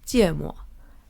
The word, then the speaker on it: 芥末: So in Chinese, the pronunciation for wasabi is 芥末. In English, the pronunciation is wasabi.